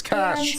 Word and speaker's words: cache: It's cash. And you said, good move, correct? Correct. She says after clear your, I'm going to say cache because I don't really know how you say it. It's cash. She says clear your cache, then check, okay?